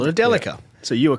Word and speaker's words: Delica: pronounce things correctly yeah which by the way apparently it's Delica got told no no it's Delica but in Australia it's Delica so the Japanese who make the bloody thing call it a Delica so you are correct